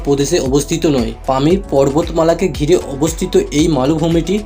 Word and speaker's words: Pamir: হিসেবে পরিচিত পামিল মালুভূমির স্থানীয় ভাষায় এর উচ্চারণ হচ্ছে পমির যার অর্থ হচ্ছে সূর্যের